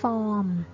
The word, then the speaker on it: ฟอร์ม: คำ นี้ นะ คะ ฟอร์ม เปลี่ยน ชนะ ตัว R นะ คะ ไม่ ออก เสียง ใน ภาษา ไทย ก็ คือ เรา จะ